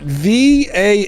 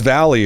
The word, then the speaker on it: Valle: was pronouncing that right I thought it was Valley or valet or let's watch a